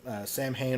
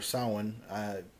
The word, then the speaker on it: Samhain: I've heard people pronounce it both ways. Samhain's the official Celtic pronunciation based off the original holiday that Halloween was based off of. But most people call it Samhain. It's the modern English pronunciation.